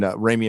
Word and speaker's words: Raimi: Did I say Sam Raimi wrong? Raimi. Yeah, I said it wrong.